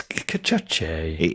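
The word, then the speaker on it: Cacace: Yeah, it's interesting how you seem to pronounce Liberato Cachachi different every single time you get round to his name, but it's Cachachi.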